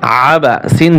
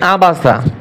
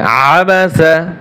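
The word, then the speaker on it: عَبَسَ: সাথে সাথে আপনারা বানান করেন আমরা শব্দ শব্দ বানান করব আইন জবর আবর বা আবা সিন জবর সাবাসা এইখানে কিন্তু অনেকে পড়ে আবাসা আইন গলার ভিতরে চাপিয়ে বলতে হবে আবাসা আবাসা ওয়াও জবর ওয়া তা জবর وতা واؤ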